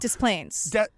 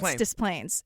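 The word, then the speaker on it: Des Plaines: the Facebook group like phonetically wrote it out for us they're like just so you know dis planes oh I can't say Des planes dis Plains it's like it's two words dis Plains so this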